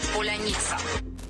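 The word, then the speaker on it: паляниця: для определения свой-чужой стала простой для каждого украинца поляница его жители из-за поребрика произносят трудом даже те кто обязан владеть отменной дикцией украинский звучит поляница а сумерками украинские бойцы переходят на украинский в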